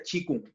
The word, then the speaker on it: qigong: sea se escribe que compró en realidad se pronuncia chi kung chicos en verdad ya pero cuando la otra